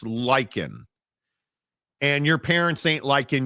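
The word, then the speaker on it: Lyken: L-Y-K-E-N is pronounced Lycan.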